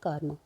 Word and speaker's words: कर्म: अब यहाँ पे हम देख रहे हैं कर्म, कर्म में क्या है, कर्म, कर्म, क र म। अब ये क्या है, हमारा हो जाएगा कर्म, कर्म, म के ऊपर हमारे क्या हो जाएगी, आर की, र की मात्रा हमारे लग जाएगी। तो ये किससे किससे पहले बोला जाएगा, म से पहले इसका उच्चारण होगा, ठीक है।